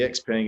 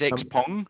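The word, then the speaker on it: Xpeng: them um and uh you know and the x paying is starting to hit export markets now i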